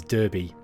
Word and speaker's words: Derby: it looks which is derby but in in the uk in the midlands where i'm from this is my hometown it's pronounced derby d-a-r-b-y but it's it's spelt like that it's just one of